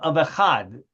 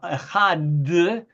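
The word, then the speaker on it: אחד: the final word of echad. Shema Yisrael Adonai echad. And so, I don't know, do any of you know that it's customary to prolong the pronunciation of that last word, echad, or no?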